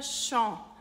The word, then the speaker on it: Champs: Então fica champ. Em champ a gente tem AM, que é o mesmo som de AN e de EN, fica champ.